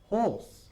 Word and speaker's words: hoarse: Hoarse. Horse. Se pronuncia igual que un caballo.